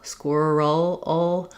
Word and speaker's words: squirrel: So even though we spell that vowel with letter E in this word, it's really more of an UH sound. squirrel or even an ʊ sound like in pull or wool.